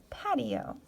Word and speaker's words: patio: to say that word for example this word here it doesn't quite follow phonics rules so if we look at how it's pronounced we have apt Pat II Oh patty oh okay so some of